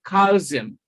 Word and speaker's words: calcium: In Sam, the sound of L is silent. All right? We have the letter L, but it is not pronounced. So the correct option is calcium.